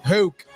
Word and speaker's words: Houck: We thought it's Hoke, dude. Houck.